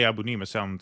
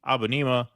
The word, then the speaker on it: Abunimah: Ali Abunimah sounds better. I've heard it pronounced both ways, but I want to go Abunimah because that sounds a lot better.